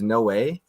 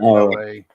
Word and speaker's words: Noé: How do you pronounce his name? It's Noé? Yeah, I've always. That's how I say. Yeah. I thought it was Gaspar No.